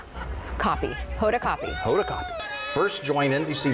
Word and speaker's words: Hoda Kotb: Hoda Kotb.